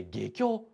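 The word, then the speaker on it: 外京: かにはない外教と書いて下郷こんな出っ張りがある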